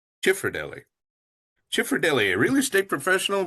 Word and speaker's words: Cifrodelli: Ah, So I say Cifrodelli. Cifrodelli.